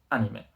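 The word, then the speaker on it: アニメ: que es lo único no hay que pronunciar la a la española en plan anime en japonés se dice anime anime y hacemos esta vez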